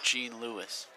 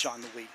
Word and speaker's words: Jean-Louis: What if she wasn't French and it's Jean Lewis? It's not. Oh, you I've heard it pronounced in other places. Oh, okay. Yeah, it's Jean-Louis.